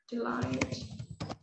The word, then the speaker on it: delight: So you don't need to pronounce the TH. They are always silent. 8, night, high, delight. Okay. Okay. So that's it. It's easy for you to just pronounce the T directly.